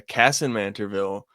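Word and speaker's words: Kasson-Mantorville: And I get they're playing a Cassin Manterville uh team. Yes. W pronunciation.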